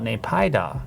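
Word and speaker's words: Naypyidaw: How do I pronounce the capital of Myanmar? Nay-pye-da. In the pronunciation closer to Nay-pye-da. Oh, Nay-pye-da.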